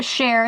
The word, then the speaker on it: Cher: I named her Cher as a kid, but not like Cher spelled like the singer Cher, like I'm going to share my soda with you.